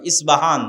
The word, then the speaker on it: ইস্পাহান: প উচ্চারণ করি ইসপাহান আরবিতে এটা উচ্চারণ হয় না আরবিতে হয় আল আসবাহানি বা উচ্চারণ হয় ইসবাহান বা আসবাহান সেখান থেকে 70 হাজার ইহুদি দাজ্জালের সঙ্গী হবে সাথী হবে এবং মুসলমানদের বিরুদ্ধে যুদ্ধ করবে।